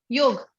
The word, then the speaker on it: योग: तो योग, आज से योग, you want to become a योग teacher, not योगा teacher, okay?